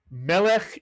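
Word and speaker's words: מלך: Again, it has a sele under the first letter. The accent is on the first syllable. Melik is correct.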